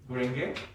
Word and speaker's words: Gurenge: How do you pronounce that piece? Gurenge.